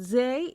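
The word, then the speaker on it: زاي: Zay is the counterpart of the English letter Z or Z. So it is pronounced like the Z in Zoom.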